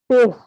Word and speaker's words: Paes: Pace. Pace is right.